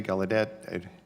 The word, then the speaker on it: Gallaudet: chairman first of all Rear Admiral what's the what's the appropriate pronunciation of your name is galih de Gallaudet it's a Gallaudet ranking member ggaudet thank